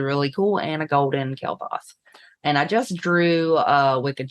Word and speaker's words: Kael'thas: Kael'thas. You little jerk. Kael'thas and Strider. By the way, I have 2 golden Flame Imps, so the artwork that's animated is really cool, and a golden Kael'thas.